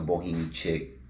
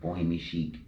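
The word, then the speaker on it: Boho chic: Shout out to Bohemi Chick, Bohemi Chic. I've been saying it wrong all this time. Bohemi chic, but it's spelled C H I C.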